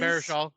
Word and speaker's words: Baruchel: Jay Baruchel Yeah, is Baruchel.